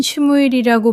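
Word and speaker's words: שמואל: 히브리어로는 슈무엘이라고 발음하며 이는 하나님께서 들으셨다는 뜻입니다.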